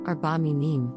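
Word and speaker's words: ארבע מינים: We will also look at the definition of Arba Minim, which is a Hebrew plural noun pronounced Arba Minim.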